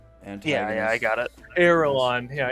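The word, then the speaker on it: Erelan: yeah i got it airline yeah e-r-e-l-a-n like aragon but you know with the lawn kind of like the movies though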